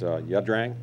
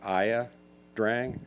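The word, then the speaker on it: Ia Drang: Yeah, by the way, it's actually pronounced Yadrang. Oh. It's the Yadrang Valley. IA is a Monyard word. When we were there, we pronounced it Aya Drang until we finally learned the actual pronunciation for that word.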